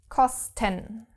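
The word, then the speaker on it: kosten: 10 in this case the thing with the syllables is there again because the syllables are separated between SN T so of course you can't pronounce it like in the case when the word is St alting with an st so C first syllable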